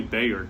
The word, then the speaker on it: Bayard: say his first name it is b-a-y-a-r-d look it up Bayard Ruskin it's probably Bayer that sounds right he was born in 1912.